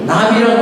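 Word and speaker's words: נביא: 나비라고 합니다. 이게 히브리어인데 히브리어는 오른쪽에서 왼쪽으로 읽습니다. 나비. 여러분 우리가 이렇게 벌과 나비 할 때 그 나비하고 똑같은 발음을 갖고 있습니다.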